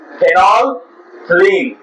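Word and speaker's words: phenolphthalein: में फिनोलथिलीन क्या है फेनोल थिलीन पीए साइलेंट है यहां पर फिनोल याद करना है पी एच इ एन ओ L phenol ethylene P एच ए एल इ आई एन थिलीन और पीए साइलेंट है इसमें इसको बोलते हैं फिनोलथिलीन फिनोल थिलीन बात समझ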